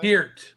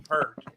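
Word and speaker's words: Peart: say his last name Pier Pier P that was close everybody's always got it wrong everybody says Neil Neil per but it's Neil that's what I was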